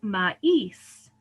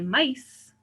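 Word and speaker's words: maíz: accent on it so these are words like ma is right we don't say mice right so that we have to put the accent on the i to be sure that the speaker knows that we're separating those into two syllables the same with re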